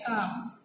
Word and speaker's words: काम: शब्दों का उच्चारण, दो वर्णों वाले शब्दों के अंतिम व्यंजन का उच्चारण हलंत होता है, जैसे कि काम। हम लिखते हैं काम, लेकिन उच्चारण इसका होता है काम। हम लिखते हैं इसको काम, लेकिन उच्चारण काम, ठीक।